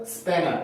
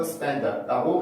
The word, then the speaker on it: spender: 근데 여기 있는 spender, 이거는 spanner 이렇게 발음하지 않고 spender라고 발음을 해요.